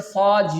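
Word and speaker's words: ص: During its pronunciation, you have to make sure that there is no whistle sound will produce during the pronunciation of the letter Saad. But, when you pronounce the letter Saad, you can feel there is a thickness in the sound and the rising of your back part of your tongue.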